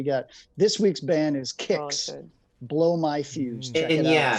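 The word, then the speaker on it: Kix: this so we got this week's band is kicks blow my fuse yeah yeah folks yeah you already know but it's spelled k-i-x okay come on it kind of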